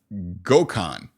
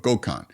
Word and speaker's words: Goan: butcher his name but it's Goan so kind of like Gohan I guess from Dragon Ball Z but Goan and looks like he's